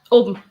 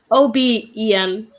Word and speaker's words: oben: Oben. What? Oben. O-B-E-N.